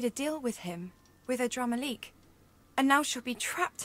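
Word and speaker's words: Adramahlihk: forever okay you know you need to communicate to the voice actors to pronounce the words the same way because no one else pronounces it and drama leak they say a drama lick this won't do i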